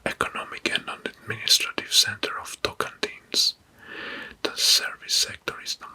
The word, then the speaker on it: Tocantins: the regions or districts in Brazil, which is Tocantins. I hope I pronounce it correctly. Tocantins.